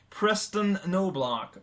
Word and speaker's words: Preston Noblock: I'm not sure if I really want to correct you because that butchering was freaking hilarious, but the correct pronunciation would be Preston Noblock.